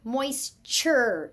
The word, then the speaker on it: moisture: Chur, moisture, chur, ch.